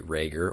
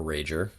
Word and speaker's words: Rager: My guest on the show today is Karlee Raeger or Rajer. Apparently, either one is okay.